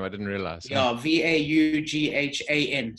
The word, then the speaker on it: Vaughan: Yeah, V-A-U-G-H-A-N. So it's written Vaughan, but it's pronounced Vaughan.